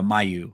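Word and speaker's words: Mailloux: There we go. Mayu. Okay. I was just like, I don't want to pronounce it like it's Caillou.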